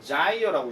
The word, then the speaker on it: gyre: GYRE라고 부른다 이렇게 얘기하는데 이걸 보통 우리가 뭐 우리나라 말로 굳이 얘기한다 하면 자이어라고 얘기한답니다. 자이어. 발음할 때 자이어라고 얘기하는데 이게 명사로 치면 무슨 뜻이냐면 소용돌이에요.